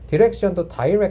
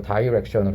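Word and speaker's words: direction: 들어가면 되니까 Dire 이고요 디렉션도 션트 이렇게 읽기도 하거든 이것도 미국식 영국식 사이예요 미국이 근데 나는 미국이 다이라고 읽을 거 같 았는데 영국이 다이라고 읽고 다이렉션 읽고요 미국이 디렉션 트라고 읽어요 아무튼 뭐가 됐든 디션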